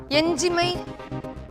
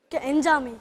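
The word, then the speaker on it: எஞ்சாமை: ஆனா நீ சொன்ன உச்சரிப்பு வந்து பிழையா இருந்தனால என்னால மதிப்பெண் தர முடியாம போச்சு. அது என்ன சொல்? என்ஜாமை. என்ஜாமைன்றது சொல். நீ எஞ்சிமைன்னு அது பொருள்படாது இல்லை, அதனால நான் இப்போ மதிப்பெண் தர முடியல.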